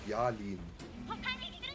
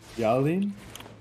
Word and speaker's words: Yalin: Do me a favor and greet my friend Yalin. How do you pronounce? Yalin. Yalin? Y-A-L-I-N. Yalin?